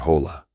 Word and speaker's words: hola: In Spanish, the H is silent. You see it, but you don't say it, like in the word hola.